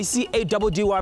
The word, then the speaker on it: Caddy: Your boy C-A-D-D-Y pronounced Caddy is out of here.